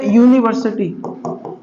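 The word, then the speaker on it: university: लगाऊं, जबकि नहीं है, इसको यू से प्रोनाउंस करते हैं, यू, यूनिवर्सिटी बोलते हैं।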